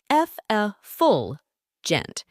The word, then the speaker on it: effulgent: what a showstopper it's an adjective pronounced F gent and it means shining